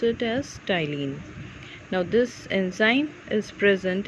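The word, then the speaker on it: ptyalin: spinning start from P but P is silent so we pronounce it as tiling now this enzyme is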